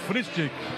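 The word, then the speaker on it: Frühstück: Ô abençoado, pronúncia tá correta. É o fristick.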